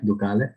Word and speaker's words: Ducale: You'll have to excuse my pronunciation, but the event was al fresco in Vigevano, Yes. Piazza Ducale. Is that right? Ducale.